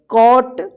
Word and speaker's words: cot: तो इसका नियम है कि जब किसी वर्ड में दो कॉन्सोनेंट के बीच में ओ रहता है तो ओ का औ उच्चारण होगा। देखिए यहां पे GT क्या है?